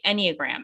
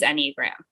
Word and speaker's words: Enneagram: I thought it was Enneagram. Oh, you're so right. Enneagram. It is Enneagram. It is Okay. Enneagram.